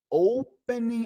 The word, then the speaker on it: opening: Excuse me, are you familiar, né, familiar with the opening, olha o acento, ó, opening hours. Mas um detalhe aqui, pessoal, você não pronuncia o G nas palavras que finaliza com ING.